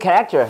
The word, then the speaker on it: character: 다음에 John with good character.